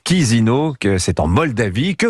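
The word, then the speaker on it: Chișinău: Vincent Emmanuel Macron fait l'aller-retour aujourd'hui à Chisinau. Oui, ça c'est CHI, mais ça se prononce Chisinau, que c'est en Moldavie.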